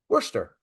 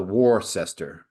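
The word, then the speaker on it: Worcester: know these things yeah Wier is is spelled war sester war sester it's no it's Worster W wer or here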